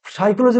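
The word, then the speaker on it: psychology: নাও দেখে নেবে ছোটদের শেখাবে এইভাবে এবার দেখো সাইকোলজি আবার সাকিব এসেছে পি এস ওয়াই দেখো দেখো সাইকোলজি বলছে পি এর উচ্চারণ হচ্ছে না পি এস ওয়াই সি এইচ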